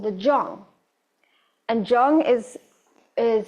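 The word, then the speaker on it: Zhong: Um but I will share that this area is called the Jong and Jong is is spelled as um Z H O N G.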